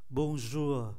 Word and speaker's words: bonjour: Bonjour, chúng ta để ý phải phát âm nhẹ nhẹ, câm R ở cuối.